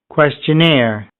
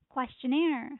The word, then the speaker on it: questionnaire: Next word is questionnaire. Questionnaire. Questionnaire. Questionnaire. So in here the stress is on the last syllable here.